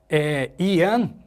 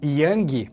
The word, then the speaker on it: yang: Yan, né, que as pessoas dizem yang, mas a pronúncia correta é yan, significa masculino, né?